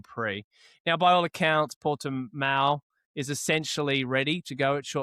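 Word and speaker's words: Portimão: And now I will fuck this pronunciation up. Portimao.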